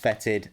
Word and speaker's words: Foetid: was told in a previous video that it's pronounced fetid I've gone on the pronunciation and things like